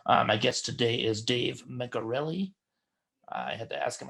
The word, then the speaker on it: Mencarelli: Hey, do you pronounce your last name Mencarelli? It's a hard C.